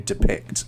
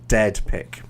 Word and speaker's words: depict: pic so depict depict it's the the stress um it wasn't quite on the right place oh okay i see that's that's fine then okay so just watch out for the pronunciation of that to depict something i just heard it more like a dead pic okay what i was